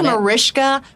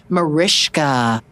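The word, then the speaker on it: Mariska: It's Marishka. Marishka. Okay, Marishka. Uh but she didn't pronounce the Hargatee, so I'm going to go with that one.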